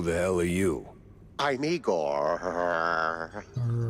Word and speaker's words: Igor: I'm Igor. Igor, not Igor? No, Igor.